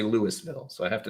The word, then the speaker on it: Louisville: I'm going to have to remember that because I'm thinking of a hard S but it's Louisville, which I can say, but if I see the word, I want to say Louisville, so I have to not see the word.